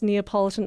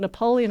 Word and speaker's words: Neapolitan: yeah um I for the longest time had mispronounced Neapolitan ice cream and I'd always called it Napoleon ice cream even my dad thought it was